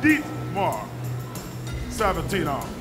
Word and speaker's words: Dimitar Savatinov: And she told me that I did not pronounce Dimitar's name right. So she gave me a little instruction. So I have to say Dimitar Savatinov.